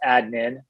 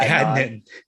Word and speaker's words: Adnin: So it's pronounced Adnin, not Adnan.